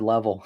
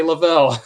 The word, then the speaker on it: Leavell: Funny enough, growing up as a kid, that's how we used to actually pronounce our last name. We used to say Level.